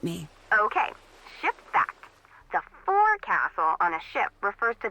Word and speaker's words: forecastle: ship, but it's pronounced forecastle. Why's that? Try pronouncing it like an English sailor with no formal education.